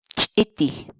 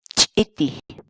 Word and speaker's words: ch'iti: de videos en la que te enseñamos a pronunciar algunas palabras en quechua. Así que nuestra palabra del día por hoy es ch'iti, ch'iti, ch'iti, la palabra quechua.